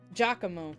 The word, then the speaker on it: Giacomo: Giacomo. That's it. Yeah, that's right. I was reading it more like phonetically instead of thinking of like the language it comes from.